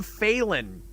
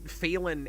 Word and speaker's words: Phelan: Like, a lot of the actors that have to say his name cannot figure out how to say Phelan without an N in it. Oh, weird. It comes out Phelan a lot.